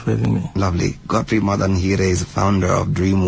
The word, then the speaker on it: Madanhire: Is that how you pronounce it? Madanhire? Yeah, that's correct.